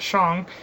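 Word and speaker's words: Shang: go little intro so the Shong Dynasty I'll pronounce that Shong you just don't enunciate as we do in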